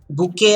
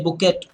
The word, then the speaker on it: bouquet: Then bouquet of flowers. You don't say bouquet, you say bouquet.